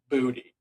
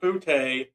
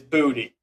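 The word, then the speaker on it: Boutte: So, he's the New England Patriots receiver has confirmed the last name is pronounced phonetically as Booty. So, apologize. It is not Bouty. It is Booty.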